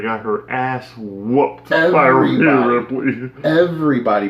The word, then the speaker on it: Rhea: Our resident ninja warrior that got her ass whooped by Rhea Ripley. Everybody pronounces this girl's name wrong. Well, a lot of people say Rhea instead of Rhea.